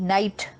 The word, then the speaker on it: knight: उच्चारण, प्रोनाउंसिएशन है नाइट, पर इसकी स्पेलिंग और मीनिंग दोनों फर्क हैं। देखिए कैसे, KNIGHT नाइट, सोल्जर, योद्धा।